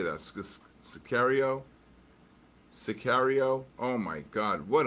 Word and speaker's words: Sicario: Scario serio.